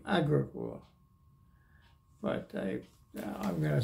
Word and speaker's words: Agricola: would say Agricola, but they say the pronunciation of all Finnish words is on the first syllable, strong accent on the first syllable. So it'd be Agricola, but I'm going to